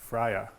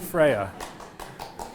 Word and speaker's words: FREYA: from this slide it is that this is pronounced Frya it is not Freya yes and if you go anywhere public or not public and Ramona is in the audience or near you and you say Freya she will yell Freya at you this has